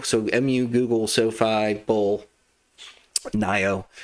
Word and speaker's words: NIO: So, MU, Google, Sofi, Bull, Nio, Neo, sorry, Neo, I think is what we decided how we're going to pronounce that.